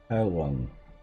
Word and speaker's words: Heilung: Heilung. Heilung.